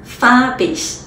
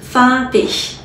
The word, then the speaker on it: farbig: ich, ich 的这种音，Billig, Billig, Farbig, Farbig。